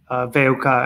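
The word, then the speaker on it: WUK: Astrid, can you tell us a little bit about yourself and Veuka? Am I saying that correctly? Yeah, kind of. It's actually, we're just pronouncing it VUK, so all in one.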